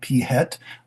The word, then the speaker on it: PhET: There is a site that I think it's pronounced FET. It could be PHET.